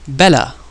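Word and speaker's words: بلى: In Arabic you would use the word bala.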